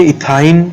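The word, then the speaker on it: ethyne: तो इसको हम क्या प्रोनाउंस करेंगे? इथाइन, इसको बोलेंगे प्रोपाइन, इसको बोलेंगे ब्यूटाइन, इसको बोलेंगे पेंटाइन और इसको बोलेंगे हेक्साइन।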